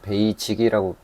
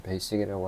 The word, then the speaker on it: basic: 그냥 말 그대로 베이식하고, 우리나라에서는 베이직이라고 많이 표현하는데 원래 영어 발음에서는 베이식이라고 하기 때문에 저는 베이식이라고 하는데, 아무튼 베이식하고 디폴트한, 둘